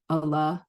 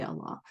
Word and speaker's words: Allah: Allah pronounced directly sounds like draw. And I thought that would actually be good because it would maybe let people know how we say Allah.